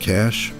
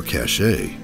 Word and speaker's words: cache: Is this word pronounced cash or cachet? Cash.